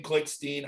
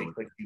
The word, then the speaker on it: Klickstein: But anyway, and then later on it became Klickstein. I think part of it is my dad says Klickstein. And so I'd always hear him say it. So I would say Klickstein, but I did change from Klickstein to Klickstein